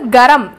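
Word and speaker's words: गरम: நாலாவது கரம், எதுக்காக தமிழில் கே ரே இம் கேவுக்கு மேலே ஜி எழுதியிருக்கேன் அப்படின்னா கேன் வஸ்திரக்கூடாது, அதை க அப்படின்னு உச்சரிக்கணும், ஜி சவுண்டோட உச்சரிக்கணும், அந்த கேவை வந்து ஜி சவுண்ட் கொடுக்கணும்.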